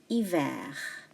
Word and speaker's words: hiver: Quelle est la température en France en hiver? H is silent.